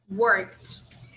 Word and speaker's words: worked: have to add ed but the pronunciation here is slightly different we just pronounce the final part here um with a sound of t so worked worked okay